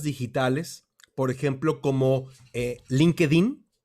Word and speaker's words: LinkedIn: por ejemplo como en linkedin y linkin se pronunciaría en inglés linked-in es una plataforma es